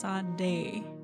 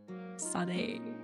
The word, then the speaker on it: Sade: Sade is pronounced Sade. Sade.